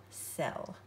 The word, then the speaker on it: cell: the S sound uh-oh cell it's sort of like it rhymes with shell now we want to